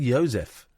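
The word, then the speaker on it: Józef: I don't like it Joseph it's pronounced Joseph Joseph there we go who's called Yosef oh my name is he's a Polish man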